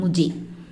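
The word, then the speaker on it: मुझे: Okay, first ஒரு முக்கியமான Hindi word என்ன அப்படின்னு பார்த்தீங்கன்னா முஜே.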